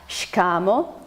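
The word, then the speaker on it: Shikamoo: first one is shkamo again emphasis comes on the pen ultimate syllable the emphasis comes on the ka shikamo and it contextually means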